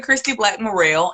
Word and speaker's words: Christie Black-Murrell: Christy Black Morrell, and I am a author, counselor, and speaker based out of Columbus, Georgia.